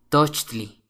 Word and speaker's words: tochtli: venado papalot mariposa sopilote tochtli conejo se puede pronunciar como la palabra tocar en inglés Touch toch at agua ejcat